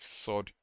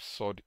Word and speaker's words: surd: This one will be pronounced as 5 sod 8. 5 sod 8.